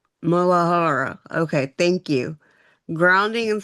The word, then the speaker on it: muladhara: Malada. Maladar. Is that how you say it, Karen? Would you say muladhara? Mulahara.